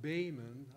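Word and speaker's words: Böhmen: meaning checks or people from Bohemia is normally pronounced Baymen I like to dabble in English spelling so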